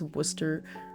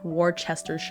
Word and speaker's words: Worcester: The Worcester, the city of Worcester, which if you looked at that in Massachusetts, you would not expect it to be pronounced Worcester.